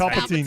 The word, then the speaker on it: Palpatine: And the no, I'm not sure how to pronounce it. Palpatine. It's Palpatine.